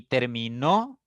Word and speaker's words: terminó: persona yo termino no y terminó fíjense que la intensidad recae en la otra sílaba en la tercera sílaba en este caso en